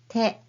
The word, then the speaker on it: て: This is hiragana character te. When pronouncing it, remember not to aspirate too much. Just say te softly, not te.